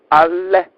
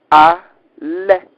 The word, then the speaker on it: Aleph: A, correctly pronounced in Old Hebrew language, ALEPH. ALEPH.